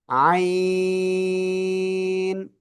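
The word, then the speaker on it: عين: জায়গা থেকে উচ্চারিত করব এই যে গলার মধ্যকার এই জায়গা থেকেই মুখ দিয়ে বাতাস না বের করে আপনার চার আলিফটানি আমরা উচ্চারণ করব। আই আইন ঠিক আছে এভাবে সবাই প্লিজ একটু জোরে জোরে পড়েন তো।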